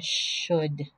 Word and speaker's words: should: could c-o-u-l-d would w-o-u-l-d-n should the l is silent could should would now in each